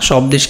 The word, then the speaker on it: স্বদেশ: তারপরে দেখো স্বদেশ। তো স্বদেশেও এখানে দেখো ব ফলার কিন্তু উচ্চারণ হয়নি। আমরা কি স্বদেশ বলি? না, স্বদেশ কিন্তু না, স্বদেশ বলি। এই যে ব ফলার উচ্চারণ কিন্তু হয়নি, তাহলে স্বদেশ।